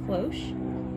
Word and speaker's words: cloche: Today I'm going to be showing you how to make a cloche. I'm 98% sure that's how you say it.